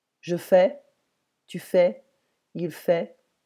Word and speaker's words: fait: Je fais, tu fais, il fait, don't pronounce the T.